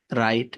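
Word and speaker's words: write: knife এখানে কে silent রাইট এখানে ডব silent কম এখানে বি সাইলেন্ট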